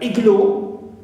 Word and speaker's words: igloo: Example, the word igloo, though it ends with o, but we stress the first syllable, not the suffix.